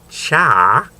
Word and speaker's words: cha: Portuguese Colony on China they called it cha C haa which is apparently the Cantonese pronunciation and also uh black